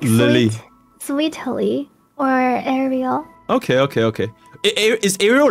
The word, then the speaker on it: Sweetily: A lot of people pronounce it like Lily though, but it's more like Lily. Sweetily or Ariel.